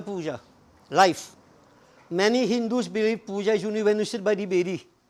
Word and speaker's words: puja: life many hindus believe puja has two syllables per anja papa national